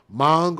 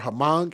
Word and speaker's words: Hmong: united states and again that word mong or hamong is h-m-o-n-g that's the way it's spelled they are the largest